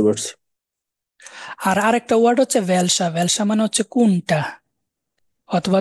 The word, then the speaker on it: wer: প্রথমটা ভাস, ওয়াস, was, ভান, ওয়ান, ভেয়া, wer, ভি, wie, wie, warum, warum, wo, wo, woher, woher, der, wohin। wohin, wohin, এই যে ডব্লিউটাকে আমরা ভি উচ্চারণ করতেছি, সবসময় ভি উচ্চারণ করবেন।